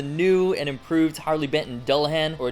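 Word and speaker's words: Dullahan: this is the new and improved harley benton dulhan or dulhan as i've been told it's actually pronounced name comes from a mythical headless creature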